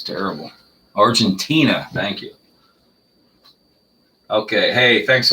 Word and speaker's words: Argentina: put away early on i think this is argentinia argentine argentina okay i forgot how to pronounce that it's terrible argentina thank you okay hey thanks a lot bruce